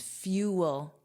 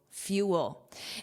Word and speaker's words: fuel: Notice that pronunciation. There are two sounds. Fuel. Fuel.